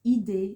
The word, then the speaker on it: idée: J'ai des idées géniales. Idée. So we've got a little accent over the first E, and that makes that E, that makes it pronounced like this, E.